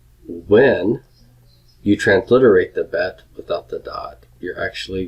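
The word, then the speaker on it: בּ: Hebrew word for dot with the dot the Baptist pronounces of B but but as in boy without the dot it is pronounced as a V sound as in Victor or victory when you transliterate the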